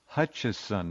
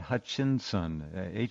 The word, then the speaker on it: Hutcheson: uh his name is if you look it up it's Hutcheson not Hutchinson hu T C Hut i s o n not i n s o n Hutcheson and no hutches